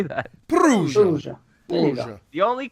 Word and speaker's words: Perugia: Perugia.